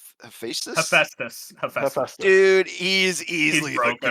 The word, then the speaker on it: Hephaestus: How do you pronounce his name? Hephaestus? Hephaestus.